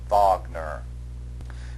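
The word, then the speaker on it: Wagner: And you should be able to associate it with the German composer in this unit, Recart Vagner. Make sure that you pronounce Vagner's name properly.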